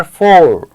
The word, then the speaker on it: four: Right, सो हमको pronounce करके देखते हैं इनकी साउंड कितनी आती है और कैसी आती है. FOUR, फोर.